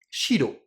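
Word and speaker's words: 白: Et blanc, je vais le dire shiro.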